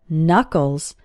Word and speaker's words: knuckles: your hand are called knuckles the first K in this word is silent and if you hold